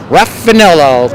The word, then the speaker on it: Raffanello: Let me see if I can get my Bronx accent on here. Raffanello. There we go. That's what it usually takes to be able to say that name.